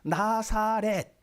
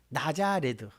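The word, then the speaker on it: Ναζαρέτ: 그리고 나사렛 나사렛이라고 하는 말은 나자레드 헬라오로는 조금 더 정확하게 발음을 하면 나자레드예요. 그걸 우리말 성경에는 나사렛 이렇게 어 번역을 해 놓은 겁니다.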